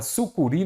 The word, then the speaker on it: sucuri: Vamos pegar a palavra que Sul cure vamos compreender primeiramente Qual é a sílaba tônica dela a último se a última ela é uma oxítona e o acento é